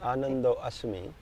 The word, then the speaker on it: Anando asmi: Can you explain what this is, and correct me if I'm saying it? Anando asmi. Anand. See, I heard it is me. You get it? Yeah, that's also work. I'm bliss. Right. Anando is me. Anando asmi. Asmi.